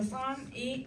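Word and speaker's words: psalm: 그리고 시편, 영어로 썸이 시편이라는 뜻입니다. 네, 피는 묵음.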